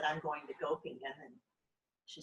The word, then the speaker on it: Göppingen: spot, and she said, you said it funny, it's Göppingen.